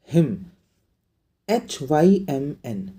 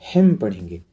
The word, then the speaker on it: hymn: हिम, HYMN, M silent है, हिम पढ़ेंगे।